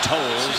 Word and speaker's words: Towles: We make sure I keep saying Towles. That's how you correctly pronounce it.